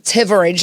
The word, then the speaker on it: Thivierge: have my friends Jamie tivid I said it right you said it because the H is silent h is silent and